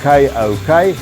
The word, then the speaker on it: kok: So they've developed this huge nuchal hump, and it's called a KOK. I'm going to spell it out. It's pronounced like a synonym for a rooster, and I'm going to do that because of the YouTube police.